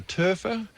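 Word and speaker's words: Toepfer: opening ceremony james turfner it's t-o-e-p-f-e-r turfer how would you pronounce it there's a silent p in there it could be in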